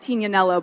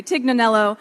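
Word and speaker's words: Tignanello: It's a it's a type of wine called tinanel, but in the states they sort of butcher the name and say tiganelo.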